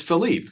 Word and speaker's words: Philippe: And see, you got to go to the pronunciation guide, and it is Philippe.